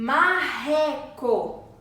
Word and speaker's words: marreco: com é correr esses esses dois erres aqui saem através da garganta o marreco marreco tá me possui